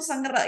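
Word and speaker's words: 生日: Oke, situasi yang pertama itu senggerak ya, ulang tahun. Ulang tahun itu senggerak. Senggerak. Senggerak. Senggerak. Bukan sengri ya, tulisannya sengri kan. Bacanya senggerak. Senggerak.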